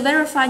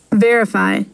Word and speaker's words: verify: Ok, từ verify nhấn trọng âm ở âm số 1 và từ confirm nhấn ở âm số 2. Verify.